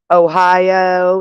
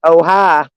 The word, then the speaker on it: Ohio: It's like in Ohio. Ohio, that's how people pronounce Ohio. But if you live there, they pronounce it Ohio.